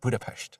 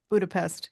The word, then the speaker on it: Budapest: you said budapes budapes yeah that's how you pronounce it budapes what you say say budha Budapest here bu yeah which is kind of gr